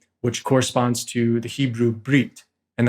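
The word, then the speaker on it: berith: corresponds to the Hebrew breed and that's spelled if you were to transliterate it b-e-r-i-t-h but it's pronounced breed and it means Covenant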